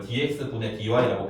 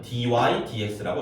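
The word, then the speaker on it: dy/dx: 그래서 이게 옛날 사람들은 다 이걸 dx분의 dy라고 배웠어요. 그걸 거의 이제 평생 써왔기 때문에 갑자기 바꾸기가 어렵지만 원래 읽는 방법은 dy dx라고 읽어요. 분자부터 읽습니다. 분자가 아니라 위에 거부터 읽습니다. 이게 만약에 분수였다면 dy over dx 이렇게 읽을 거거든요. 근데 분수가 아니기 때문에 이걸 읽는 방법은 dy dx라고 그냥 있습니다.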